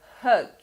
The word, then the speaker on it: hug: Agora vamos pronunciar uma palavra parecida, mas que começa com H. Hug.